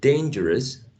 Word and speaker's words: dangerous: look at the word dangerous dangerous because the final is a schwa dangerous i know you